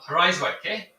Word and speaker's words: Rijswijk: I extend a warm welcome to Tanja Van Den Akker from Rijswijk in the Netherlands, close to The Hague. How was my pronunciation there, Tanja?